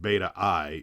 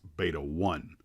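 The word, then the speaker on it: Beta I: atomic powered bomber kit it's not beta-i it's beta-1 so oops that was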